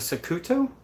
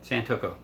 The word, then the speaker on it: santoku: it I don't know is it a Saku toe but I can't I I get it wrong every time but that's right there it's a santoku or I can't pronounce it I am horrible at that Sam talk oh yeah santoku there you go but these things are